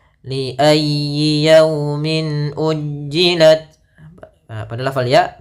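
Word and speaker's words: يوم: Li yaumi, agar menyempurnakan makhraj huruf waw, kita agak monyongkan bibir kita. Li yaumi, ya dilembutkan yaumi.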